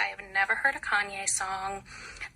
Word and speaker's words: Kanye: I have never heard a Kanye song. I used to pronounce his name Kane because I'm a little dyslexic and that's how I read it.